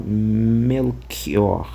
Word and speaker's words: Melchior: Então, talvez por essa aproximação é que em vez de ser um um uma som mais chiado melior, ficou ao contrário melquior, né?